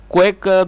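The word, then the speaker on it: quack: क्वैक दोस्तों आप इस वर्ड को नोट कर सकते हैं, इसकी जो करेक्ट प्रोनाउंसिएशन है वो एक क्वैक, QUAC के क्वैक, और क्वैक का मतलब होता है झोला छाप डॉक्टर।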